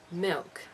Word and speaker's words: milk: one interesting part is the way new zealanders pronounce the L Sound in words like this of course different people speak differently but it often sounds like a w milk it says in Wikipedia